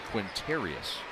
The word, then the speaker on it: Quintarius: he has that nickname it's the challenging announced pronouncing his first name it's quintarius qu int are IOUs rashon Jones is his